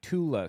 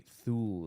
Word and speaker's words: Thule: Or the Thule Society is actually the Tula Society, not the Thule Society. Because, again, they don't have the TH sound.